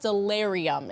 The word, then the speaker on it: Stellarium: I found out, by the way, gentlemen, that this is pronounced Stellarium, is how you say this website, right?